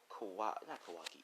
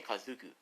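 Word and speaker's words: Kakuzu: oh he killed kawaii uh that's how you say his name kazuku you know to do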